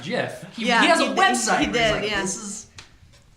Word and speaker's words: GIF: is it Jif or gif Jeff I don't appreciate ya second time getting the guy who made the thing said that it's pronounced jiff yeah a website that